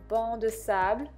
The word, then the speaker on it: Banc de Sable: And I'm taking NARS Banc de Sable. You don't pronounce the C.